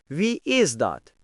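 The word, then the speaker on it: Wie is dat: We is that. Хто це? We is that. Нідерландською. Хто це? Звучить так: We, is, that Давайте вимовимо разом повільно.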